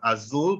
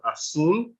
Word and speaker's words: azul: it as a j Zed usually has a s as an S sound when so um Azul is not Azul but Azul right a-z-a-f-a-t-a is not asapata